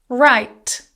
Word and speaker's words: write: Write. I will write a letter. Silent W.